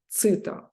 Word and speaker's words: chitta: It consists of two parts, bodhi and chitta, or citta also, because ancient pronunciation in Sanskrit, it was citta.